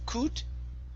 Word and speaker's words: could: uh next up is could instead of C could okay instead of an o sound it's an uh sound could good good okay one